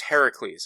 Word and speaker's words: Heracles: and it's it's actually it's Heracles is what it's how it's supposed to be pronounced so the reason and